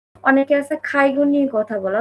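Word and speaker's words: 介護: Student ভিসাতে আসছে, Japanese পারে, বোঝে, কিন্তু accent অনেকে আছে খাইগো নিয়ে কথা বলে, অথচ খাইগোটাই ঠিকমতো উচ্চারণ করতে পারে না। বলে কাইগো, কাইগো, কাইগো ভিসাতে যারা আসে।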